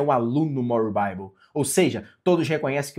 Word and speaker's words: More Bible: Se digita More Bibli, mas se pronuncia More Bible.